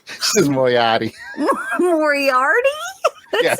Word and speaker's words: Moriarty: It's Moriarty. This is Moriarty.